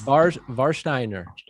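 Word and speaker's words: Warsteiner: one's for you worse i'm going to say it right it's yes varshteiner yeah that's pretty good okay yes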